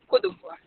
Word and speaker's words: Côte d'Ivoire: How is Côte d'Ivoire pronounced? Côte d'Ivoire.